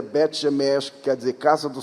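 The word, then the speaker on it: בית שמש: e Netânia, Bet Shemesh, vocês falam Bet Semes, a pronúncia certa seria Bet Shemesh, que quer dizer Casa do Sol, porque judeu não fala si, nós falamos shi, nunca esqueço disso.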